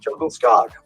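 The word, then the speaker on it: Djungelskog: I don't know but jungle skog is pronounced jungle scog oh that was pretty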